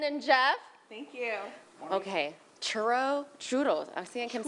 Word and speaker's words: churros: Get ready to roll your R's because we are featuring churros. Central Valley's going to school me this morning because I said churros.